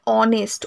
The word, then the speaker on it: honest: আছে, না উচ্চ থাকে, আমাদের উচ্চারণ কি হয় অনেস্ট, ও এর উচ্চারণটা থাকে, তো সেই জন্য এ এখানে হয় না, অনেস্টের আগে সবসময় ওকে, সরি অ্যানকে ব্যবহার করতে হয়, বোঝা গেল?